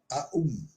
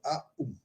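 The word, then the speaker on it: AUM: Sílaba composta das letras A, U e M, né? Três letras A, U e M, das quais as duas primeiras combinam-se para formar a vogal composta O, né? A U se sintiza em O.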